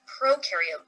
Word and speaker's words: prokaryote: Our intro to cells video, when you think of prokaryote, think of pro rhyming with no nucleus, no membrane-bound organelles.